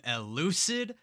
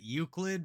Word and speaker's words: Elucid: And today we're going to be reacting to The World is Dog from Elucid. Finally, I said it right. I always said it Euclid, but this suggestion came from Baroon over on the Buy Me a Coffee.